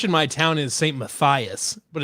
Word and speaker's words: Matthias: So I go by the German pronunciation. So it's like is Matthias? Fancy. Yep, Matthias.